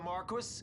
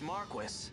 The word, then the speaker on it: Marquis: they fooled even the Marquis what if a judge killed the that's not how you pronounce that it's the Marque that would explain everything